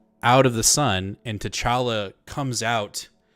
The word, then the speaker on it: T'Challa: wada bang, we have like this version of T'Challa. Am I saying it right? T'Challa, right? T'Challa, yeah.